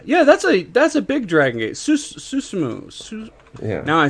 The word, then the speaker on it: Susumu: Susumu.